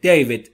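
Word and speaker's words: David: دیود در انگلیسی دیود به این صورت تلفظ میشه. دیود دیود دیود دیوید یا دیود نگفتما دیود دیود ایشه کوتاه بین ا و ای دی از است فرام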